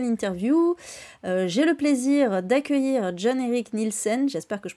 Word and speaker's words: John-Erich Nielsen: pour cette nouvelle interview j'ai le plaisir d'accueillir John Eric Nielsen j'espère que je prononce bien d'ailleurs c'est parfait d'accord donc qui